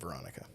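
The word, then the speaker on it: Weronika: It's spelled with a W, but in the in the commentary they pronounced it Veronica. Oh, cool. Or yeah, like I kind of mix between a W and a V.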